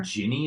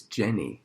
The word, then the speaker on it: Jenny: in house of cards but it's not her Jeannie in Forrest Gump yeah Jenny its Jenny I came from Alabama I get to pronounce it as cleaning Jeannie it's like ginny